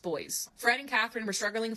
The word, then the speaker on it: Boise: It's spelled Boise, but it's pronounced Boys.